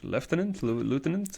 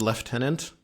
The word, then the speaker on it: lieutenant: Lieutenant is... CBC style is lieutenant. I think normal people style is lieutenant. Because there's no F in the word.